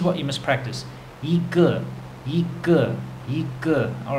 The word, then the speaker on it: 个: So let's get on to it. The magic count word is ge, okay? And that is spelt in pinyin G-E, ge.